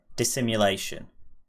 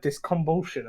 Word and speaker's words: Dissimulation: Today's album is KSI Dissimulation. We're joined today by Aidan, KSI, myself Denver, Joe, I didn't know you pronounced it dissimulation.